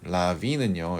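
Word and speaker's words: larvae: 라비는요. 여러분 흔히 아는 라바 알죠? 라바 그니까 유충이에요. 유충 이게 단수형이고요. 라비는 복수형이에요. 발음이 달라요.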